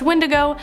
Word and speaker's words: wendigo: number seven the wendigo so the wendigo or sometimes pronounced windigo has been talked about